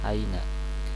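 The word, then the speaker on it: أين: Nah, ini aina dibacanya ya, aina.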